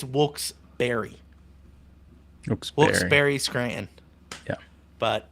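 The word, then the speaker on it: Wilkes-Barre: there was a shirt that I loved it's wols bear like the animal wols Berry like the fruit or wols bar like a like a alcohol bar and and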